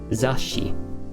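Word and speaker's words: 雑誌: writing be careful and how do we pronounce magazine in japanese uh za and little two so what do we do you hold the tone here a bit zashi and i wanna show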